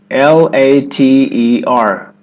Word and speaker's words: later: L-A-T-E-R.